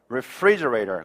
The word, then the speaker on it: refrigerator: refrigerator. 그렇죠? 여기 f에서 조금 끌고 가다가 터트리는 게 좋아요. 너무 갑자기 refrigerator 이렇게 하지 말고 refrigerator. refrigerator 이렇게 해주는 게 좋습니다.